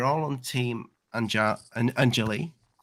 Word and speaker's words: Anjali: it and why why why is that angeli anjali anjali sorry sorry it's because so many people have said it angelis so many people have